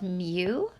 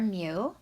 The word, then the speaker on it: mu: on us okay so if you're trying to pronounce it it's called mu it's a Greek letter okay it looks like